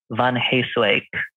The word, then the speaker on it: van Heeswijck: name uh so i'm uh van heyswak wowzers that is a fantastic name that is